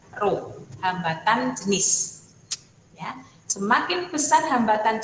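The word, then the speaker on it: rho: itu simbolnya roh Ya seperti huruf P kecil ini bacanya ruh hambatan jenis semakin pesan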